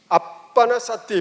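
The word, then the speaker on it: ānāpānasati: 여기다 적어드리면 빨리어로는 방금 하는 호흡 명상을 빨리어로는 아나빠나 사띠 이렇게 적어요. 아나빠나 사띠 따라 해볼래요? 아나빠나 사띠. 아빠나 사띠 빠르게 발음하면 이렇게도 해요.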